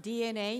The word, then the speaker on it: DeNA: company uh oh well DNA uh it's pronounced DNA in Japan was founded in 1999